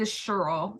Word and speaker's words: Cheryl: they're from Illinois so the way they pronounce her name is the Sherl not Cheryl so when they moved